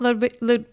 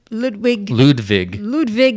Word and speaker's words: Ludwig: And he says, no, it's not Ludwig. Ludwig. I guess. It's not I know you. the V is pronounced like a V.